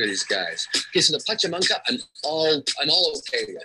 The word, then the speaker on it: Pachamanca: How do you say Pachamanca?